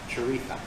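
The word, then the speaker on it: chorizo: of a spanish sausage a um churritha so they pronounces that as a like a th sound character so as you can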